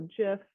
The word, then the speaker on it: GIF: So creating an animated GIF or GIF, depending on how you pronounce it, and implementing both visual